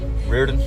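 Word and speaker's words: Reardon: Rearen. It's what? Rearen. Rearen. Can you spell that for me, please?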